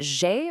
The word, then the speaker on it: j'ai: That j'ai right at the beginning, pronounced a bit like j'ai, is our verb avoir, combined with the pronoun for I.